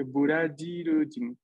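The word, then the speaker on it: ブラジル人: Recuerden que la pronunciación de la consonante J del español en romaji, en japonés, es J. Entonces, se encuentran aquí burajirujin.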